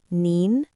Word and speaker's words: 你: Now, if you add xin under ni, you get nin. Pay attention to the pronunciation. They're similar, but not the same. One is ni, and the other is nin.